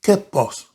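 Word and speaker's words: κῆπος: Ese huerto en griego quiere decir kepos.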